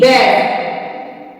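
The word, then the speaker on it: badge: भी रूल है कि अगर डी के बाद जी आए तो डी साइलेंट होता है जैसे बी ए डी जी ई बैड ई डी जी ई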